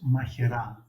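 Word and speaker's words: Μαχαιράς: What is the bee farm called where you're at, It's in Greek, oros machera. and what would that mean in English? Oros mikaran. Is that pronunciation correct? Machera, yeah, Machera is the place.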